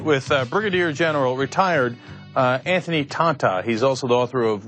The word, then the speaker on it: Tata: His name is spelled T-A-T-A. It's Tata. It's Tata, right?